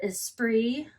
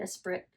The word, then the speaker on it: Esprit: And then the shorts are Esprit. That's how you say it, guys, not Esprit.